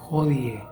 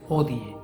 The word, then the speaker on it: hodie: En el latín eclesiástico, la letra H tiene dos sonidos. Por ejemplo, los alemanes la pronuncian como una J muy suave. Por ejemplo, hodie. En el Padre Nuestro está la palabra hodie, ¿sí? O se puede pronunciar sin el sonido de la J, hodie. Las dos pronunciaciones son correctas.